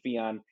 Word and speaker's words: Fijan: name at b-o-b-b-y-f-i-j-a-n my last name rhymes with neon theon neon so at fion um i'm on twitter